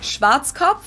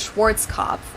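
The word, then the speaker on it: Schwarzkopf: over the world pretty much in German we pronounce it schwat which literally means blackhe head schwat English native speakers usually pronounce it Schwarz cough or Schwarz cough or something along those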